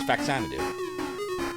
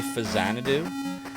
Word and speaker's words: Faxanadu: sorts of ways fanu it's the only way to say it faxanadu I've heard some people say fanad do while I recognize that it is supposed to be of the words famicom and zanu it is fanu that is how you say because I say it that way unthaw what does that